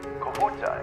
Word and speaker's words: Kahuta: Going to the Kahuta plant. Okay. Kahuta, is that the correct pronunciation? Am I saying that right? Yes.